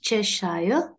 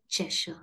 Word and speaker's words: Cheshire: and the Cheshire Cat not Cheshire but chesha the 12th one dash